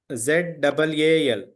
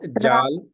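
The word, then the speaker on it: ذال: s j this one z a l zal not Jal z a zal r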